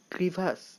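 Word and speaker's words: crevasse: কাকাবাবু বললেন, ঠিকই বলেছিস, কিন্তু কথাটা ক্রিভাস নয়, ফরাসিতে বলে ক্রোভাস আর ইংরেজিতে বলে ক্রেভিস, তুই দুটো মিলিয়ে একটা বাঙালি উচ্চারণ করে ফেলেছিস।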